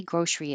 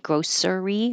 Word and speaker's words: grocery: s an S gross we don't pronounce the middle e and make it three syllables like grocery or grocery so make